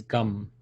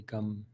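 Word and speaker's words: गं: so and the seed mantra for Ganesh is gum so just G am quite simply gum there is a Sanskrit pronunciation rule where when you have a gum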